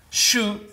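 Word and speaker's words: 手: Shu means hand, te. It's the alternative pronunciation of the kanji, the Japanese sign for hand, all right?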